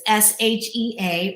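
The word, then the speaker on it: 谢: sheesh yeah not s-h-i-t it's s-h-e-a or some will phonetically say x i e which a lot of people don't even know how to pronounce that so i say i change it to s-h-e-a she means thank you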